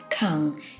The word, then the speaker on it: 館: drawing finally we have the character which is pronounced kang and it means a public building now there